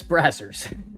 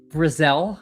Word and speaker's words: Brazzell: Chris Brazzers. That's his name, right? Emo loves it. He loves some Chris Brazzers. It is, of course, Chris Brazzell. If you say it like Gazelle, it makes him sound fast.